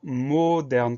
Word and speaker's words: moderne: aile de mode moderne pas d'accent sur le e comme tout à l'heure le eux se prononcent est parce qu il est suivi de deux concernent le r et je ne peux donc pas besoin d'accent pour avoir par le son